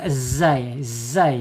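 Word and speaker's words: ز: Kalau zai bukan huruf isti'la, walaupun dia sedikit terangkat ya. Zai ya, ujung lidahnya menyentuh gigi seri bawah ya.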